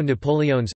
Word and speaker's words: napoleones: There is also Napoleon's, again with all the vowels pronounced, a milfoy pastry stuffed with a sweet milk-based filling.